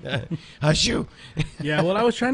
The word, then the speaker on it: au jus: It was like I kept trying to kind of feed her the correct pronunciation. You know, in between, I was like au jus. It's au jus, au jus.